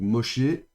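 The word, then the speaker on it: משה: Et pour rappel ici normalement on devrait avoir le avec le point di critique pour attester que c'est un chine.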